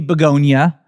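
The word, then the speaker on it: Bugonia: so I went to go see Begonia from Movie Club, That's how you say it.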